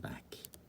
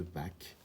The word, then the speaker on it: Bach: Et puis, parfois, il y a aussi pour certains prénoms, comme Chloé, ou le nom de famille d'un grand musicien, Bach.